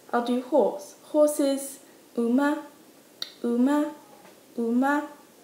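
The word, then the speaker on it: うま: Horse is uma, uma, uma. I like to think of this as oh, ma'am.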